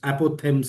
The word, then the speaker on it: apothegm: I think the PH after the APO would be silent. Apothegms, I think.